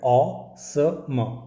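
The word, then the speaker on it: awesome: है अ और यह म क्या हो गया ऑ स म ऑसम ऑ सम ऑसम मतलब इसका स्पेलिंग देख ले पहले ए डब्लू ई एस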